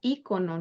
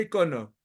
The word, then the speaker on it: icono: Pero en la mamertos y variante de México es ícono, ¿no? lo correcto sería icono, pero ya casi sería un anacronismo, porque toda la gente lo pronuncia icono.